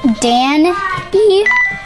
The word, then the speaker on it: Danny: This one is against Danny, pronounced Dan E.